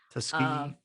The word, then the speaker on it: Tuskegee: And he really goes on to tell the history about how these men were, part of the, how do you pronounce it? The Tuskegee Airmen. Tuskegee.